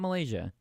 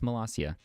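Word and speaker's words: Molossia: population what and it has a president it's malasia not Malaysia it's pronounced massia they have their currency is cookie dough I'm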